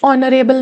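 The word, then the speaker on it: honourable: ही is dash ऑनरेबल मैन बट हिज सन is dash unique case. ऑनरेबल मैन। ऑनरेबल में H silent है। तो किसकी आवाज़ दे रहा है यह? ओ की आवाज़ दे रहा है ना?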